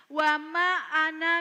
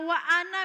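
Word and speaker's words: وما أنا: Yang pertama itu wa ma ana minal musyrikin. Kalau ada anak-anak kita bacanya wa ana minal musyrikin, itu salah.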